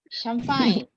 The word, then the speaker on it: champagne: CH in French is pronounced as sh, sh, sh, sh, sh, sh. Champagne.